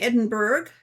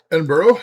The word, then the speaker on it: Edinburgh: Uh, our uh programmer was in Edinburg. Edinburgh. Edinburgh. Scotland. Edinburgh. Yeah. has spilled bird but pronounced burough.